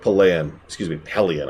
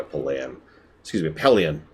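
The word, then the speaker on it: Pellaeon: And yeah, I actually like Pelion, I think is apparently how that's supposed to be pronounced.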